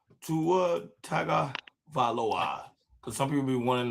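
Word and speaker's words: Tagovailoa: Ta tag Valawa cuz some people be want to know how to say his name.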